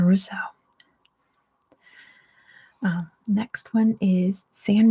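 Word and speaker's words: Roseau: good Here Comes an easy one that's the pronunciation Russo well next one is San Marino San Marino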